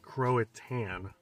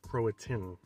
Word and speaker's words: Croatan: how to say where i'm at i was pronouncing it croatan national forest but it's actually pronounced croatian croatian national forest in eastern north carolina so